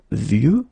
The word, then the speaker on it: vieux: And the last one is vieux, old, un vieux arbre. Okay, of course you've got this X at the end, but you don't pronounce it.